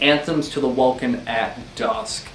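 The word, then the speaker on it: Anthems to the Welkin at Dusk: ending nightside eclipse oh what sorry i totally mispronounced that so wrong it's anthems to the welcome at dusk yeah i'm one of the people that prefer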